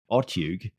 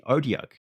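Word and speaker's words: Otyugh: I've been pronouncing it wrong all these years. I've been saying Otiug, but it's actually Odiarch.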